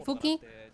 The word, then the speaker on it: Fuki: But Fuki, if I'm pronouncing it in Japanese, say Fuki, not having ultimate just yet, meaning that that's not gonna be as impactful for Velocity.